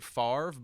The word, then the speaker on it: Favre: Favre but even though we pronounce it farv but it's actually spelled f-a-v-r-e or if you'd like